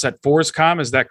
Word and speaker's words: FORSCOM: u.s armed forces command and i you would pronounce that forscom is that correct yeah so forcecom is a governing body over uh different brigades